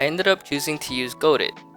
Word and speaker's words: Godot: up choosing to use goadit go dot go do well apparently no one knows how it's pronounced for sure but i'll stick to the general consensus of godot i chose godot because